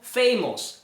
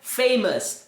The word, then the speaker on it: famous: Muitas pessoas pronunciam isso aqui como famous. Famous. Mas não é assim que se pronuncia essa palavra. Se pronuncia famous.